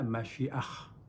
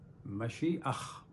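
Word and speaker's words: משיח: مسیح عربی میں ہے، انگلش میں مسایا کہتے ہیں، لیکن ہبرو میں جو اصل ورڈ ہے وہ ہے مشیخ. مشیخ یاد رکھیں، ہبرو میں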